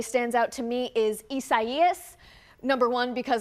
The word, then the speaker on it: Isaias: One that really stands out to me is Isaias. Number one, because a lot of people were confused about how to pronounce it. It is Isaias, and because it led